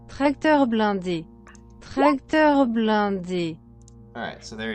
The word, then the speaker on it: tracteur blindé: So stream, here's how it's pronounced. Tracteur blindé.